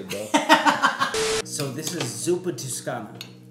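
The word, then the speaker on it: Zuppa Toscana: So this is Zupa Tuscana. Right? Yeah, you said it right. Say it again. Zupa Tuscana.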